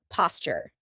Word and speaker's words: posture: Notice how I pronounce it, posture. That's because a t and a y sound together make a ch sound like in Tuesday. and tuna.